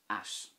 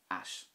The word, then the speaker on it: ait: This is pronounced at, which means strange or unusual in Irish, at.